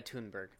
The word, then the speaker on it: Thunberg: I like to think that he's probably actively yes, it's pronounced Thunberg, Chad Boris. It's Greta Thunberg.